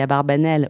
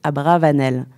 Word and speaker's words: Abarbanel: le plus célèbre des abarbanel aussi prononcé abravanel a donné son nom